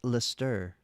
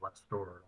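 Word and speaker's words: Leicester: It's pronounced Lester, Lester, Lester, Lestor. I think I think Definitely ain't less store.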